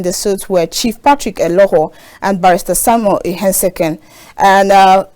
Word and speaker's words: Eholor: You don't pronounce it with E. It's Eholor, you know?